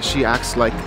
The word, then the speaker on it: acts like: 현재형으로 쓸 때는 T를 거의 무음으로 하는 거예요. 뭐 act like, acts like 너무 발음하기가 어렵잖아요. 그냥 acts like, she acts like 이렇게 하시면 돼요.